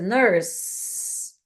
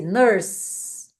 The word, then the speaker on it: nurse: Nurse, ela termina com a letra E. Só que no inglês, quando o E vem depois de uma consoante, ele não é pronunciado.